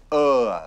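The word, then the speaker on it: Å: This is Ah, the town of Ah, the village of Ah. It's pronounced Or.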